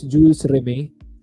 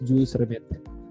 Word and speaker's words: Jules Rimet: I think the correct pronunciation is Jules Rimet. Pero kami ng ate ko always pronounced it as Jules Rimet. Parang bidet.